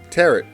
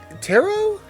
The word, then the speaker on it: tarot: that okay let's see ending with a silent T ballet debut rapor isn't that report oh maybe oh wow I was butchering it teret the tarot is it really a Tarot I guess it is a tarot card but